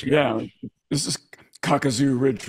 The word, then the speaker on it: Kakazu: Either way, you just want to keep your pronunciation flat. Kakazu, Kakazu, Okay, whatever.